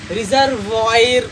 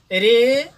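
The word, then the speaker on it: reservoir: इन तीन शब्दों में देखिए, इसे अधिकांश विद्यार्थीगण मेमोयर्ड्स पढ़ते हैं, या रेपर्टोयरी पढ़ते हैं, या रिजर्वायर पढ़ते हैं, तो ये गलत है प्रोनाउंसिएशन।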